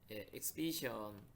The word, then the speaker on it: exhibition: 이거와 관련 있는 다른 어휘가 바로 exhibition 발음이 좀 달라집니다. 그죠?